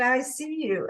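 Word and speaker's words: ISEA-U: I I was like i-s-e-a Dash U and she said you know I think they're pronouncing it I see you and it makes so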